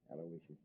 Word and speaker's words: Aloysius: that middle name right it's a-l-o-y-s aloysius sure how could i